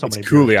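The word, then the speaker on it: Cuylle: So it's Cooley. I wouldn't be able to guess that either. Cooley. Apparently, it's pronounced Cooley.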